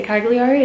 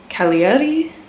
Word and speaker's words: Cagliari: i can't pronounce cagliari which i know that that's not how you say cagliari it's like but you say like that so it's like kaliadi i can't say it